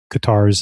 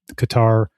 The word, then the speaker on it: Qatar: Some of them are wholly owned by Qatar or Cutter, I think is how you actually pronounce pronounce it.